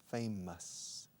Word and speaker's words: famous: La OUS al final de las palabras en inglés nunca se pronuncian OUS. Por ejemplo, famoso, famous, no famous, okay? Famous, nervous, mountainous, montañoso, superfluous, para nosotros, for us. Esa pronunciación, us, esa pronunciación de OUS al final de tantas palabras. Nervous, famous, okay?